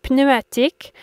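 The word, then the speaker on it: pneumatique: a kid learning French my favorite word was pneumetic which means inflatable or tire and I loved how you pronounced the p in this word in French but not in English some of the items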